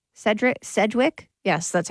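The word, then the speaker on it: Sedgwick: this picture I see Kevin Bacon Kira Kira Sedrick Cedric Sedwick yes that's how you say her name and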